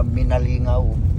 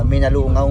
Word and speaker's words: Minalungao: Ah mali mali din ako ah minalungaw ano Milalunga dito sa ano Malinungaw Mila Mila Milanunga no pamali mali pa ngaani ako ng pagbigkas diyan ng Minalungaw ayan kinurik na ako ng aking mga minalungaw